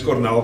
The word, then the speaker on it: Cornell: so my name is Cornell my full name's or berer Cornelius but I can understand that's a bit hard to pronounce so it's just like the University Cornell University uh my Rugby Journey